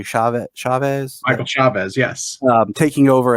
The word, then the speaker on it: Chavez: I'm a Conjuring film fan, and I was very interested with, I want to pronounce it correctly, Chavez?